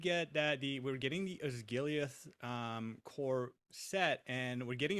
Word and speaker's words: Osgiliath: We're getting the Battle of Osgalath and all of the accompanying items. The I terrain believe set it's and pronounced Osgiliath.